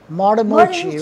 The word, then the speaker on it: Martinucci: Martinucci, right.